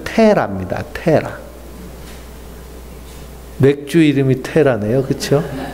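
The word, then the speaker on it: Terah: 이름은 달의 신의 이름이에요 그래서 데라를 영어로 발음하면 테라입니다 테라 맥주 이름이 테라네요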